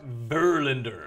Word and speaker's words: Verlander: It's actually pronounced... Verlander? Verlander.